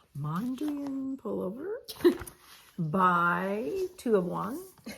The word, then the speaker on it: Mondrian: of this done last time I'm making the Mandarin full moon how do you say it Mondrian Mondrian pullover buy two of one yep blind brand